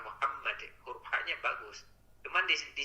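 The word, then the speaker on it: مُحَمَّد: jadi madnya teh yang Kalau berhenti di Muhammad itu tidak dipanjangkan ya tadi Bapak bacanya Muhammad kemudian jangan dipanjangkan Kalau tidak ada aman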